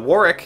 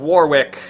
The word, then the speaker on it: Warwick: or is it burich like how uh wari is wari despite having a w in the middle of the name which I was very